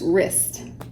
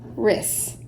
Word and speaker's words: wrist: okay this word is wrist wrist so you have W are the W is silent wrist wrist I paint